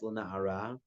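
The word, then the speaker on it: לנערה: It says on the pasuk, "V'lena'ar," and it's pronounced "lena'ara."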